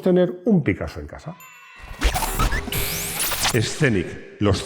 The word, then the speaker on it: Scénic: Rodrigo y yo, porque yo, como todos los españoles, digo Scenic, con una E delante que no existe. No digo Scenic. Bueno, pues ya sabéis que los españoles no sabemos pronunciar consonantes solas.